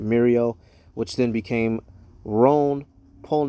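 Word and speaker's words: Mérieux: I I believe it's it looks like a French word that eux is pronounced oh all right Mario which then became Rhone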